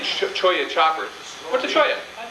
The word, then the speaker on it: cholla: Randy Coverly from the Choya Choppers. Anybody know what a Choya is? see this name, Cholla choppers. What's a cholla? It's pronounced a cholla.